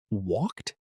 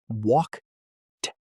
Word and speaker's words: walked: visit id But in the word walked, it sounds like a t at the end. walk t You don't say walk ed.